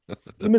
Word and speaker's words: Yma: Emma was criticized, and Emma is spelled YMA here, and sumac like like the like poison oak.